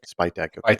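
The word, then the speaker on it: Spytek: Spitech. Okay. It is it is it is spelled uh or or it is is pronounced how it's spelled exactly.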